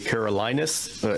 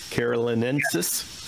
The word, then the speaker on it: carolinensis: Was that first one that you had, was it the Carolinus? Am I saying that right? Carolinensis.